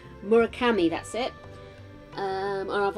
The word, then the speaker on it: Murakami: things you know I've got like uh Haruki murakawa I've pronouncing that right murakami that's it um and I've also I do